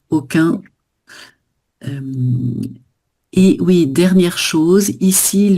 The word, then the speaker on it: aucun: Et aucun. Voilà, avec une nasale. Parfait. Aucun.